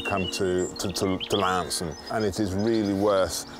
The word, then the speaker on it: Launceston: it my local town is a place called Lon or as I've been told since I've been down here that's got to be pronounced Lanson and part of what the charm about the